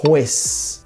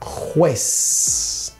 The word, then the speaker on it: juez: Então vamos fazer a pronúncia em espanhol, árbitro, árbitro. Do outro lado, juez, juez.